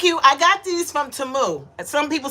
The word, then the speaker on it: Temu: and they told us the proper way to say it. It's Temu, not Temu.